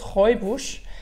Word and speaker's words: Rooibos: aurait beau jeter oui ça se prononce robe rouge parce que c'est un